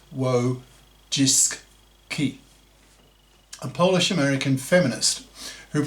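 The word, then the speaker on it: Wojcicki: CEO was a woman Susan wuis pronounced w jiski a Polish American feminist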